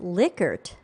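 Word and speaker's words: Likert: blatts was just posting on linkedin that it's pronounced lickert it is it is all right that we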